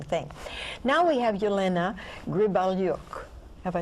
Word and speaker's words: Gribelyuk: a very interesting thing now we have Yelena Gribble York have I said it right okay good you're